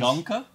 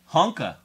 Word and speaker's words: Junka: Junka. Honka. Honka help. Junka. The J is silent.